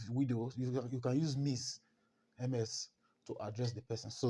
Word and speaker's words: Ms: or even if widow, you can use Miss MS to address the person.